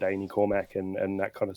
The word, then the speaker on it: Ainy Cormac: I'm here with um is it pronounced Amy Cormarmac? Yeah, Cormarmac.